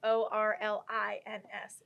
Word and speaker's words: Orleans: It's like instead of like Orleans, do like Orlins.